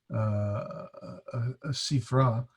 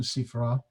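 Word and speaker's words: סִפְרָה: Or the feminine word is Sifra, a little different pronunciation, Sifra, Sifra, from Strong's 5608,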